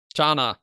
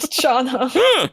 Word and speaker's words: Chana: Chana. It is not Shauna.